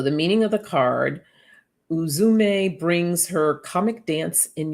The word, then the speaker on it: Uzume: see what she has to tell us okay pronounce uzume uzume she's the ancient japan's shaman goddess and